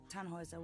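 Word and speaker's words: Tannhäuser: what's your name tanhauser we'd pronounce it tanhoisa with a num load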